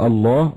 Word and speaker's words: الله: والصحيح أنه مشتق، هذا أصح أقوال أهل العلم، من الإله، فالله هو الإله المعبود، وأصله إله وحذفت الهمزة تسهيلا، فالنطق الله بمعنى الإله المعبود سبحانه وتعالى.